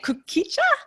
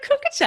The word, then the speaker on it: kukicha: You say it kukicha? Kukicha. Oh no, I've always said a kukucha.